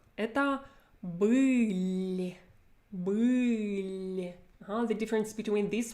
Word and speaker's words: был: So number one is Был. Был. My first consonant is hard. My last one is hard. It's not followed by a soft sign. Next one, номер 2, это были.